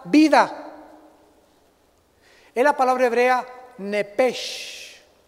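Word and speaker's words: נפש: Esa palabra vida es la palabra hebrea nepesh. Con SH al final se pronuncia en hebreo la SHJ, nepej. Y siempre los judíos hacen nepej.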